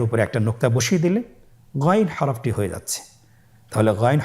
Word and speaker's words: গাইন: উচ্চারণ করা যাবে না যেহেতু হরফটি মোটা এজন্য মোটা করে উচ্চারণ করতে হবে মাশাল্লাহ আলহামদুলিল্লাহ আমরা আজকের